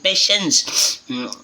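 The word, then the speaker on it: patience: Where जहाँ तक Ramu was quiet and पेशेंस, यहाँ पेशेंट नहीं फ्रेंड्स, स्पेलिंग सेम होती है लेकिन पढ़ने का तरीका अलग होता है।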